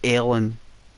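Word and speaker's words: Ellon: a place is it Ellen it's called Ellen I think they pronounced it alen my mom did like alen and there was Peter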